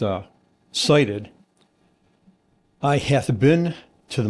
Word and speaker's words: SITID: So, si ti d pronounced uh cited.